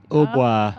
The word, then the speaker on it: hautbois: Hautbois. Hautbois. Wow, Uh-huh. interesting. In French, the T is silent.